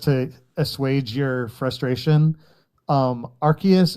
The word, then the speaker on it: Arceus: Um by the way, Breakfast, just to assuage your frustration um Arceus it uh follows sort of the Latin and Greek pattern, neither of which use a soft C.